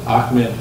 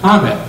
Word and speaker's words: Hamed: So, I pronounced Ahmed Hamed for this reason that most of the literature, most of the secondary literature refers to Hamed, not Ahmed.